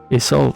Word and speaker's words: Isolde: the princess of Ireland is old there uh there's a couple different names they're named by after actually is and other things like that but isold is how they pronounce it in German and how I think